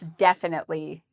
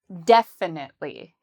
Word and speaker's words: definitely: Well, this adverb has the stress on the first syllable. So, we would say def. Very strong and loud. Definitely.